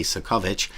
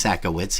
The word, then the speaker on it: Sakowicz: He is going, I always say Sakovich, but it's Sakowicz, he pronounces it.